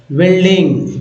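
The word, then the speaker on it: building: के रूप में माइनिंग बिल्ड बिल्ड यू जो है साइलेंट है इसलिए बिल्ड बिल्ड पढ़ते हैं यू को नहीं पढ़ते हैं बिल्डिंग तो ये बिल्डिंग हो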